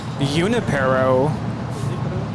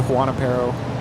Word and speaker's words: Junipero: Eximino, and it looks like Junipero, but I've heard it pronounced Juanipero, Junipero, Junipero. I've never heard it like that. I think most people said Juanipero.